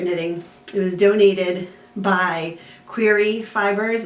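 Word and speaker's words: Quaere: doing some secret knitting it was donated by query fibers it's q-u-a-e-r-e that's how it's spelled okay and so she um generously gave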